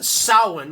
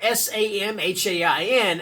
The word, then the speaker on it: Samhain: other day that uh it really drives um irish people nuts whenever people pronounce uh salon which is spelled s-a-m-h-a-i-n as samhain that's not how you pronounce it okay uh so yeah